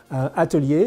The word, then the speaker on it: Atelier: with this brand but I know how to pronounce it Atelier or is the the gold Atelier is an Atelier so Atelier I saw that